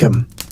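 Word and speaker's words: Eyam: Arm, is pronounced just like 'em.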